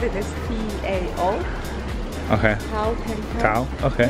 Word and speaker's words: Tao: You said it was Dao? Dao. Dao. Okay. We spell it as T-A-O.